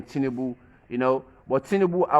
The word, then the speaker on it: Tinubu: They try to put things in order, you know, Tinubu, that's what they pronounce his name, Tinubu, you know.